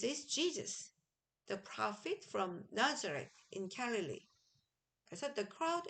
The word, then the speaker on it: Nazareth: Jesus 하고 그 다음에 나사렛으로 우리가 한글로 읽었지만 영어로 읽을 땐 그래도 영어식처럼 발음을 해줍시다. This is Jesus, the prophet from Nazareth in Galilee.